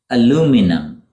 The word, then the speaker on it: aluminum: difference in spelling too Brits call it aluminium aluminium it's a light silvery gray metal used in a variety of products such as tins foils and kitchen utensils in the US it becomes aluminum aluminum interesting don't you think